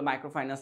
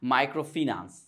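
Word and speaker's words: microfinance: কিনা না যদি আমি সাবকন্টিনেন্টাল ভাবে ধরি তাহলে মাইক্রোফাইনান্স এটা ঠিক আছে বাট এটার উচ্চারণ সঠিক উচ্চারণ হচ্ছে মাইক্রোফিনান্স ঠিক আছে আচ্ছা মাইক্রোফাইনান্স বা মাইক্রোফিনান্স সম্পর্কে আমাদের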